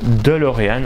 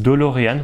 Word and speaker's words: DeLorean: vous connaissez la fameuse DeLorean. Alors il y en a qui disent DeLorean, moi je disais DeLorean avant, et ça s'écrit DeLorean, donc D-E-L-O-R-E-A-N.